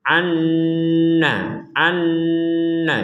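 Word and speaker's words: عن نفس: Dan itu diperkuat dengan tasydid di atasnya nun yang kedua, sehingga kita membacanya an-nafsin, anna.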